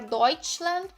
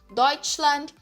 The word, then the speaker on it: Deutschland: muitas palavras, como por exemplo a própria palavra Deutschland, né? Ele vai ter esse som de X, então Schuh, né, que é sapato, Schuh, Deutschland, né?